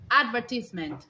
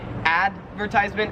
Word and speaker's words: advertisement: didn't get it either advertisement advertisement and the difference is like which syllable you stress so in American English we would say advertisement advertisement and in Australian